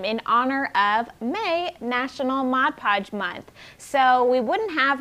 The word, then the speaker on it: Mod Podge: title modern decoupage so a common misconception is that people think that it's called modge podge which makes sense because it rolls off the tongue because it rhymes yes absolutely but you're saying it wrong it is mod podge for modern decoupage so that is a